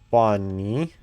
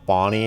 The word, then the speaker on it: Bonnie: Bunny. Go away, Chica. Wait, isn't the bunny's name Bonnie? Have I been pronouncing Bonnie's name wrong this whole time? Why are you still there? Bunny is Bonnie.